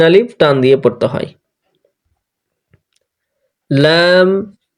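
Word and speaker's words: لام: Lamp এই অক্ষরটি চিকন করে শ্বাস বন্ধ করে পড়তে হবে, ল্যাম।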